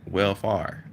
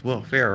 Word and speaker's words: welfare: off you got r so that's why i was like well far but she was like no well fair right and i don't know okay what about this i was like what about this pronunciation i said well fari she said no okay okay okay and